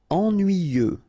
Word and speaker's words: ennuyeux: nuit then y ennuyé ennuyeux ok final x not pronounce the same concept en nuuyeux ennuyeux Courageux.